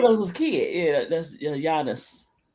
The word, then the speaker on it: Giannis: Yeah, that's Giannis, I believe. I always say Guyas, too. It's Giannis. The G is silent.